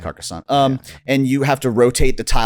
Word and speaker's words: Carcassonne: Carcosa or Carcassonne. And so I think it's pronounced Carcassonne.